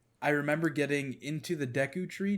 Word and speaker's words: Deku: remember getting into the deku tree dick how do you say it deku yeah deku tree uh in that